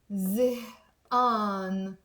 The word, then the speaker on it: زهقان: By the way, you can also pronounce it زهقان. It's exactly the same thing. I come from Mount Lebanon. I like to pronounce it in زهقان. Okay? I'm a village girl. My sisters sometimes make fun of me that I pronounce a lot instead of a.